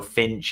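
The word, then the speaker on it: Fynch: called Finch, which is spelled F Y N C H. So, I feel like a little bit of a tribute to me, but apparently not. Um so, Finch.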